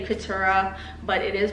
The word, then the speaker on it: Keturah: I just say Keturah, but it is pronounced Keturah.